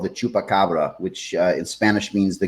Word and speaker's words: chupacabra: And then these were, how do you pronounce that? Chupacabra.